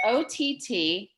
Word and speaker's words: Otteau: Excuse me, can you spell that name again? Otteau, it's OTTEAU.